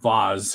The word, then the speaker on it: Vase: Hey, Bradley, I need you to ask a question of Vaz for me. It's spelled vase, pronounced Vaz.